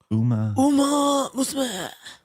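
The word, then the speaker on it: Uma Musume: Uma Musma. Musma. There you go. That's the proper pronunciation.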